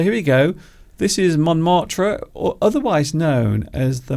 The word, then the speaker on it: Montmartre: Would you like to have a look at the place that Steve mentioned earlier, Montmartre? Montmartre. Which Beautiful. we're not pronouncing correctly, but Well, I of think course you have to roll your R's at the end.